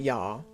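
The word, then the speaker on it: ja: yeah it's not a it's not a hard consonant a j in german but you can give it quite a lot of kick just once again one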